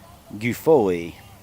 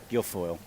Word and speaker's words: Guilfoyle: Is it Guffoli? Guffoli? The batter. Guilfoyle? Guilfoyle. Guilfoyle. I was saying it wrong. Guilfoyle.